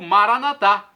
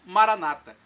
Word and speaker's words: Maranata: os evangélicos ou protestantes Maranata com a tônica na penúltima sílaba nosso católicos colocamos a tônica na última não importa pronúncio significado é o mesmo é a parausia a